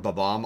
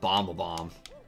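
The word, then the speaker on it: Bob-omb: to that that green ba-bomb you know when i was a kid whenever it came to the term ba-bomb i used to just call it bomb-a-bomb i did the same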